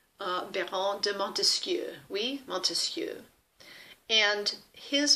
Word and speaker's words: Montesquieu: And the French Enlightenment thinkers around the mid-1700s were people like Baron de Montesquieu, oui, Montesquieu. And his belief, Montesquieu, 3 syllables, that there really needed